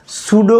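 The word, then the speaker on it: pseudo: হচ্ছে গ্রিক শব্দ এবং সুডো বানানটা কিন্তু পি এস ইডি ও এটা কিন্তু বানানটা আগে কিন্তু পি আছে তাই না সুডো হচ্ছে গ্রিক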